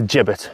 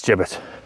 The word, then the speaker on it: gibbet: gibbet, but it's a gibbet. Even though it's spelled with a G, it's gibbet.